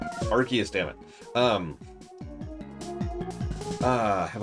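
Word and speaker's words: Arceus: Yeah, but like there is canon for how this is supposed to be pronounced. Yes, but then again, I'm never calling it Arus ever. Archus.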